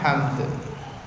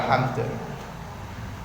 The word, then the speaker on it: hamd: Rabbana walakal hamd. Bukan ham biasa, tapi ada huruf dal. Jangan lupa ada huruf dal di belakangnya. Rabbana walakal hamd. Biasanya kekeliruannya apa? Terkadang dalem mboten diucapkan. Seolah-olah dalnya itu hilang.